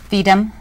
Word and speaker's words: FIDM: Now tell us about, do you pronounce it FIDM?